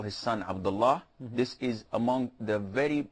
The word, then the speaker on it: Abdullah: But if it's just a name, you cannot say this, because Lahi means a man who's playing. So Allah is the name. You can pronounce it in different ways depending on the context and what comes afterwards. So if you're going to pose, you have to say Abdullah, and that is it.